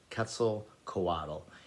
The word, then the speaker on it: Quetzalcoatl: quetzalcoatl um it is um spanish and it is spelled z a q-u-e-t-z-a l c o a t l ketzel coadle and what it is is a it says